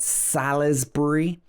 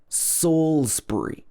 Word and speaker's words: Salisbury: example canterbury canterbury and salisbury this is not salisbury saulsbury salisbury now we've got some